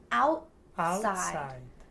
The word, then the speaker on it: outside: I bought I bought some meat some meat and took and it took it outside. The word outside has a T in the middle, but Outside.